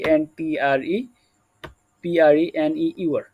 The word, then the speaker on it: entrepreneur: এখানে আমরা কিন্তু দেখি হচ্ছে কি ইন্টারপ্রেনিউর, অনেকে বলে যে ENTREPRENEUR, এটা কিন্তু এন্টারপ্রেনিউর বলে অনেকে। তো এটা কিন্তু আমাদের উচ্চারণ হচ্ছে আমেরিকান অ্যাকসেন্টে এটা আমরা বলতে পারি হচ্ছে এন্টারপ্রেনিউর।